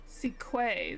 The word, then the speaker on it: Sequay: Sequay, that's how you say her name? Quay.